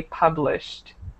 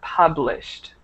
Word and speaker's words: published: see it okay so a common mistake might be to add an extra syllable for example to pronounce it publish but it should be altogether published instead of that okay okay okay perfect